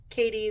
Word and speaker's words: Cady: How her name is, I believe it's spelled Cady, but her name is Katie.